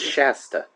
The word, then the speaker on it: Shasta: saying sha yeah yeah that's not how it's pronounced whatever I don't care it's Shasta like Mount Shasta in Northern California hey but hey shout